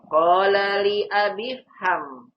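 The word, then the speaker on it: qāla lī abī fham: Qala li abi fham. Bukan dibaca qala li abi ifham. Salah. Cara bacanya qala li abi fham begitu. Qala li abi fham. Karena hamzah wasal tidak dibaca kalau di tengah.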